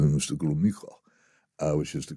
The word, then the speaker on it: Gromyko: And she tried pronouncing his name correctly. She called him Mr. Gromyko, which is the correct way of doing it.